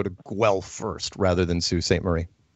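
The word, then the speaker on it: Sault Ste. Marie: Marie how do you get sue at it I would definitely because it's spelled its s au s o u LT sa u well LT it's it's French we have a French population so you know very lately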